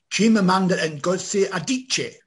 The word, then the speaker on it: Chimamanda Ngozi Adichie: I can't even pronounce the second thing. Would you like to have a go at that? Chimamanda Ngozi Adichie.